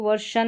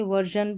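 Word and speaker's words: version: यहां पर ये जो है ना एस आई ओ एन इसको वर्शन नहीं पढ़ेंगे। वर्जन पढ़ेंगे। वर्जन यहां पर एस आई ओ एन का जन भी उच्चारण रहता है। तो यहां पर जन करके है वर्जन।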